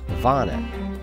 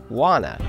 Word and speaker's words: wana: The Hawaiian name for the venomous creature that stung me is Vana. The English pronunciation of this name would be Wana, and this is no coincidence, as the pain their spines cause makes you wanna go home and cry.